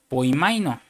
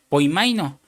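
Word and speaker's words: ποιμαίνω: Ahora usa otra palabra que se pronuncia poimaino, que quiere decir guiar.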